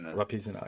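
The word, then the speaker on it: Vipassana: Vapisana. Yeah. I've never. I always pronounce it the wrong way.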